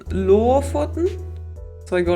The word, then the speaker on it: Lofoten: Put a pressure on the first O and you have the dialect.